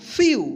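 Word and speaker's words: few: फ्यू। क्या पढ़ेंगे इसको? फ्यू।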